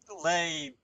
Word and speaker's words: Leibniz: a name I know, but I couldn't even pronounce it back when I took actual math classes. So it's Leibniz.